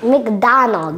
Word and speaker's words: McDonald's: McDonald's. Once again? McDonald's. Once again? McDonald's. Vous voyez comment il prononce ça? Mc. Il n'a pas dit Mac. McDonald's. It's like M-I-C.